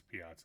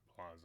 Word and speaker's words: piazza: Oh, that's Piazza, not Plaza. Okay. Makes sense because it's spelled with 2 Z's rather than 1, but I thought Plaza, and I was like, what's Piazza?